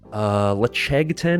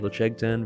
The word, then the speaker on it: Ledaig: Lechegten is really good. It's spelled Ledaig. Lechegten, very tasty.